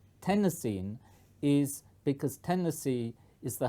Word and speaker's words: Tennessine: that everybody will say tennessine because it sounds just like the state of Tennessee whereas tenine doesn't the reason why it was called tenine is because Tennessee is